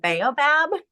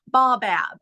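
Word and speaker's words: baobab: called now I've already I've always mispronounced it I call it bobab but it's actually bab and I'm like I like bobab better so it doesn't matter how you say it but that is an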